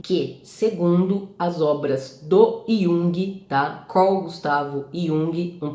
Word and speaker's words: Jung: gente tá falando do Yung é Lembrando que Yung se escreve Jung mas a pronúncia é Yung também não é you tá e eu já vi